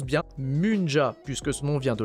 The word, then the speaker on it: Munja: vous allez progressivement comprendre pourquoi déjà ça se prononce bien Munja puisque ce nom vient de la mu c'est-à-dire